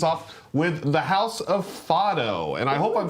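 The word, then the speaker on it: Fado: it up this morning and it says it's pronounced foto f a d o um it is a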